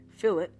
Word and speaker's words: fillet: Fillet, not pronounced filet.